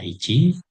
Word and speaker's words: 一: Jadi untuk onomi kanji ini pertama bisa dibaca ichi, bisa dibaca si, bisa dibaca itu, ya ini kecil ataupun huruf ganda.